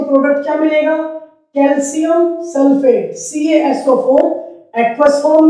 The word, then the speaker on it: कैल्शियम: Next हमारा example है कैल्शियम carbonate. कई बच्चे या टीचर्स भी इसकी प्रोनाउंसिएशन में गलती करते हैं, इसे कहते हैं कैल्शियम। इट्स नॉट कैल्शियम, ये कैल्शियम है।